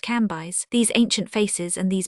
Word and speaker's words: Cambis: There were in Madame de T.'s drawing-room old, noble, and very venerable ladies, who called themselves Mathone, Levis pronounced Levi, and Cambis pronounced Cambyse.